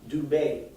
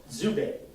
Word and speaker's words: Dubé: One being the consonant D, which sometimes is pronounced as a D-Z. So there's a family, I have a family friend by the name of Andre Dubé. In France it would be Dubé. In Canada it's pronounced Zubé.